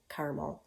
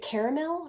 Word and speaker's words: caramel: delicious I love caramel so is it caramel or caramel what do you say I don't know I like caramel because it sounds better it's one less syllable you know and I'm a I'm a woman of action you know go go I don't have time for that extra syllable so anyway Werther's original